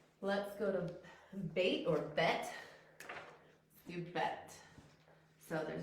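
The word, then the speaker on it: בית: And that's bet. Or you also hear it pronounced bait.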